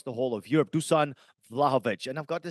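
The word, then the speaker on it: Vlahović: but Duan vovi Duan I've got to keep saying it correctly now Luan vlahovich has scored six League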